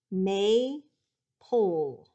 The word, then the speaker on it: maple: it is may pull that first syllable is open with a long a pull i don't hear that e just like in a v dash e syllable but i have a consonant l e maple did he get